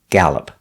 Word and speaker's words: gallop: the horse is galloping pronunciation gal like apple gal gallop the horse is galloping